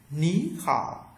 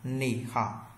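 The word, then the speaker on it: 你好: đọc thành dấu sắc hai Thanh Ba đi với nhau Thanh Ba thứ nhất đọc thành thanh hai ok và cái vấn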